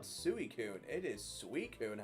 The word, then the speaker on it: Suicune: Honestly, sometimes I ignore the way people mispronounce certain Pokemon because sometimes they do it intentionally to bait a reaction. Yeah, definitely. Suicune is one where I hear people still call it Suicune, and I'm like, what?